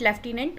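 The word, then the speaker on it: lieutenant: लेफ्टिनेंट, we call it लेफ्टिनेंट, okay, according to British pronunciation, but उसमें एफ कहीं से कहीं तक नहीं होता है स्पेलिंग में.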